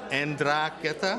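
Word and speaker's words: 'Ndrangheta: women that are standing up to, again, let's pronounce it, en-DRAHN-geh-tah?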